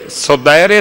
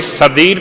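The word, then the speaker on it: سدیر: ایک روایت اور ہے صدیر سیرفی، امام جعفر صادق علیہ السلام کے صحابی، کوئی صدیر پڑھتا ہے سین دال یہ رے، کوئی صدیر پڑھتا ہے سین دال یہ رے، ترتیب تلفظ میں فرق ہے، اور اس کے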